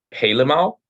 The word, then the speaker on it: helemaal: Helemaal. The emphasis is on maal. De klemtoon. Helemaal.